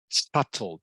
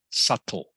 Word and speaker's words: subtle: So you will note that it is pronounced subtle. The B is silent. The B in this word is silent. So it is pronounced subtle, subtle.